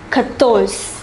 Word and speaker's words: quatorze: The number 14 is pronounced quatorze. Quatorze.